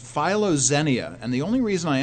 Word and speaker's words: philoxenia: It's pronounced philoxenia, and the only reason I emphasize it is to emphasize the two different words.